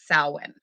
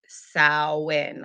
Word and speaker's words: Samhain: spelled get pronounced it's salwin it is salwin like you like a female pig you would say sow and then like an n instead of a motel